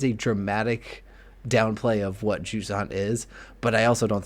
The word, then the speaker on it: Jusant: How do you pronounce the game? Juant. Okay. It sounded like you were saying like juice.